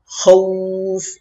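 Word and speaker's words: خوف: ওয়া আমানাহুম মিন খাউফ মিন খাউফ, খাউফ না খাউফ, খ ওয়াও জবর খাউ খৌফ এভাবে উচ্চারণ করবেন।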